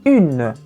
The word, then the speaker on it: une: No masculino, un, e no feminino, une. Une. Presta atenção na pronúncia do U no feminino, une.